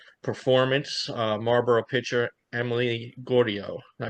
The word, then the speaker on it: Gaudio: um off an 8 nothing shutout performance uh Marboro pitcher Emily Gordio. Did I pronounce that?